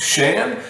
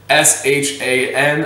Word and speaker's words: Shan: by Garrett, and then I believe it is pronounced Shan, or Sean. I'm sorry, man, if I butchered that. That's why, as a teacher, like I said, I always make up nicknames for students if I can't pronounce it. S-H-A-N, I'm gonna go Shan.